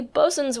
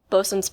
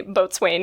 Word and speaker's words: boatswain: For those of you who, like me, had read the term long before you ever heard it pronounced, it is pronounced bosun even when it's spelled boatswain.